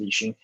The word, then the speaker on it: Lixin: My handle is Lixin, Lixin, pronounced Lixin.